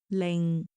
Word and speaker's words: 零: want to introduce zero in Cantonese it is Ling Ling for example Ling see Ling Zhi Ling Ling Ling Ling's Hut hundred in Cantonese we say give you